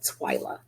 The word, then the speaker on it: TWIA: call it here in Texas we call it twia it's Twi a it's pronounced twia and this is called Twilight designated